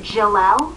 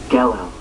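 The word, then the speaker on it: Gelel: And is it Jalel? Gelo. Gelo. Do you think you could tell us where the mines of Gelo are located? What is the stone of Jalel? Gelo. Gelo? Gelo. Gelo.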